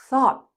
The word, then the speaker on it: thought: Thought the o u g h t sounds like not hot.